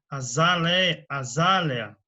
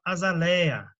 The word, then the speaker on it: azaleia: Azalea, são ditongos, né? Terminados em distongo, né? Mas a pronúncia, o pessoal costuma falar azaleia, né? É azalea, azalea, né?